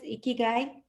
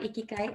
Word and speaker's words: ikigai: recorded by prema today premite is ikigai so it's not ikikai and i think with